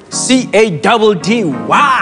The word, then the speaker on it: Caddy: C-A-D-D-Y. That's how you say it. Just because. Hey, it's your boy C-A-D-D-Y, pronounced Caddy.